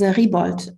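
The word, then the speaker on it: Riebold: my family name was Ribold, with an IE, and that's a combination that it's a long E for in German, but you don't find it in Italian names.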